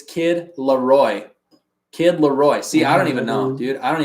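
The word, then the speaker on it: Kid LAROI: to say his name nah it's kid Laroy kid Laroy see I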